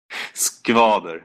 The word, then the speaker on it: Skvader: Is it Skvader? Skvader. It's a hard pronunciation for Americans.